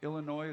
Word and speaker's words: Illinois: Are you okay over there, Illinois? The S is silent.